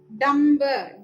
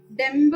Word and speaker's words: ഡംബ്: അതുപോലെ ഡംബ്, ഡംബ് എന്ന് തന്നെ പറയണം. ഡെമ്പ് എന്ന് പറയാൻ പാടില്ല. മലയാളത്തിൽ പറയുന്നു, പക്ഷെ സംസ്കൃതത്തിൽ പറയാൻ പാടില്ല.